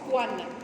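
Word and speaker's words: choane: L'écho, ça s'écrit schwan, mais on prononce coan, d'accord?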